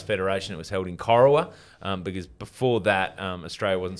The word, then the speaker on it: Corowa: But you're from Corowa, right? Yes. Corowa, is it? That's how you pronounce it? It is pronounced Corowa, a little town nestled on the banks of